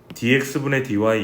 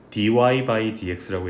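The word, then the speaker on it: dy/dx: 이거 원래 읽을 때는 얘를 읽을 때는 dx분의 dy 이렇게 읽는 게 아니라 dy by dx라고 읽어요.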